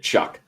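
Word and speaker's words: Shough: Uh, Spencer Shuck. Um, is that Tyler Shuck? Is that really? Yes, it's actually Yeah, it's actually how you say it. Chuck.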